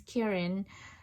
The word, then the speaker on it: kirin: But in Japanese Kirin, in Chinese it's Qilin, and in Japanese it's become kirin.